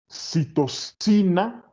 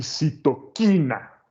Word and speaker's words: citoquina: Ambas se consideran palabras válidas. Obviamente, la pronunciación correcta es quina. Pero cuando se hizo la traducción, ¿no? Cuando se vieron las palabras escritas con la letra C, muchos idiomas decidieron convertir el sonido a la pronunciación de su propia letra C, ¿no?